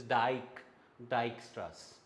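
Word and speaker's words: Dijkstra: J is not pronounced. It is dyke dystras.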